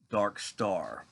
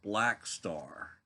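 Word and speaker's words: Blackstar: did the video and I realized I uh mispronounced the title of the album I was calling it dark stuff Dark Star but in reality it is David Bowie's last studio album entitled Black Star so I said oh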